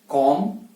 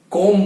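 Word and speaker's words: calm: या थम या क्लाइम, तो इसके एंड में जो बी है उसका उच्चारण नहीं करना है। तो हमेशा जो भी शब्द के अंदर MB एंड में आता है तो बी का उच्चारण नहीं होता है, ये याद रखना है।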